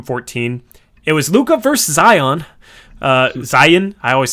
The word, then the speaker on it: Zion: eight rebounds zion had is it zai it's zion right where is it zion